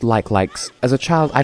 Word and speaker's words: Like Like: you're not familiar with Zelda games they're called like likes as a child I pronounced it like you likey because why would it be pronounced like like